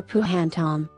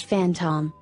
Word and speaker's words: phantom: that don't make sense phantom is spelled in a way that a person who was new to English may assume that the proper sound may be phantom or puh hantum rather the proper pronunciation is phantom making the same sound that the letter F would make one may wonder why